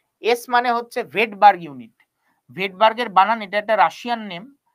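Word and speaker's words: Svedberg: মানে হচ্ছে ভেডবার্গ ইউনিট ভেডবার্গের বানান এটা একটা রাশিয়ান নেম তাই জন্য এর বানানটা এস দিয়ে শুরু হয় কিন্তু উচ্চারণ হচ্ছে ভেডবার্গ এটাকে বলা হয় ভেড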